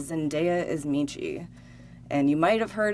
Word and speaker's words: Michi: It's spelled Zendaya, is Michi, Meechee. All right, here we go, guys. Zendaya is Michi, and LeBron James is Gwangi.